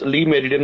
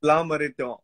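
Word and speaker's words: Le Méridien: you pronounce whether it's Lee Meridian or La Meridian. How will you pronounce? It's La Meridian. It's not Lee, it's La. It's a French term.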